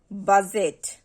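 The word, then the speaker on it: budget: অর্থাৎ কোনো শব্দের মধ্যে যদি ডি জিই একসাথে থাকে তাহলে সেক্ষেত্রে ডি উচ্চারিত হয় না। দ্যাট মিনস আমরা যদি শব্দে একসঙ্গে ডি জিই এই তিনটি লেটারকে পেয়ে যাই তাহলে সেই ক্ষেত্রে আমরা ডি এর উচ্চারণ করব না। সো আমরা যদি কিছু এক্সাম্পল ট্রাই করি, বাজেট, বাজেট, এখানে ডি জি একসঙ্গে আছে, ডি জি ই, বাট এখানে কিন্তু আমরা ডি এর সাউন্ড করছি না।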